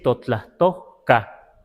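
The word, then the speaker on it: totlahtoca: Sí se puede decir Totlastoca, así, Totlastoca. Aquí tenía que haber una aspiración, Totlastoca, sin reverencia, sin respeto, digamos, ¿no?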